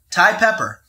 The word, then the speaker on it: Thai Pepper: for everyone to enjoy thai pepper if it rhymes with spy sweater it's gotta be thai